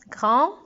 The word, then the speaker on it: grand: Il est plus grand. Donc, regardons plus grand. Plus, aussi un S, grand, avec un D qui est muet.